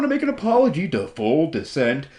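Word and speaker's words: fulldescent: make an apology to full descent I just kept on pronouncing your name full decent but uh that's only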